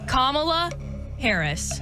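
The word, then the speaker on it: Kamala Harris: of the United States I got this okay kamla Harris Final Answer Final Answer correct pronunciation very good thank you I still say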